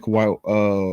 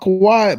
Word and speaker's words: Kawhi: He said Kawhai. Uh, my man said Kawhai what? You You said Kawhi Leonard's name wrong, but his demand kind